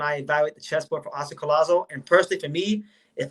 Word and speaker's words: Collazo: And we'll give the correct pronunciation. Oscar Collazo, right?